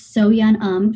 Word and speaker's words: So Yun Um: We were kind of chatting about this earlier, but can you pronounce your full name again? It's So-Yeon Um.